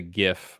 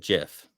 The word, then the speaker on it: GIF: the correct way of GIF is it gif it's GIF bro I don't know J because GIF is like Jiffy Lube it's like a peanut